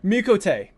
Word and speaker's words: Miqo'te: Miqo'te. So I Miqo'te.